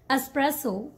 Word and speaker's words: espresso: this word okay so the right way to say this word is espresso espresso espresso this one efficiency efficiency